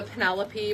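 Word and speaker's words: Pinelope: this colorway is the Pine Lope. We're pretty sure it's supposed to be the Penelope, but it is spelled P-I-N-E-L-O-P-E. Pine Lope. Pine Lope. We are sure we're saying it wrong, and we don't care.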